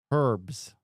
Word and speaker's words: herb: Isn't it herb? Yeah. Herbs. Herbs. Herbs. Herbs. Yeah. You don't say the H.B. Herbs. Herbs. Isn't it herbs? Herbs. Yeah. Well, why don't they spell it er then? Like herb.